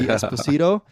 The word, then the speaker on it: Esposito: with an Italian accent I believe in America you would say Esposito I guess uh but that's the Italian the the proper Italian pronunciation and yeah uh what